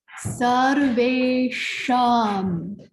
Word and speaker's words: sarveṣāṃ: So we've got sarveṣāṃ. Sarveṣāṃ. It's important to get the cerebral sh. So it's not sh, it's tongue back and up.